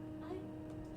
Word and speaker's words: AI: By the way, you'll understand why it looks like AI, but it's actually pronounced I as you play.